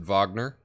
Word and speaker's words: Wagner: Natasha says, please pronounce it Wagner, in reference to the composition, Flight of the Valkyries, used in the movie Apocalypse Now.